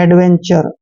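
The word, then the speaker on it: adventure: और TURE को चर पढ़ते हैं, एडवेंचर।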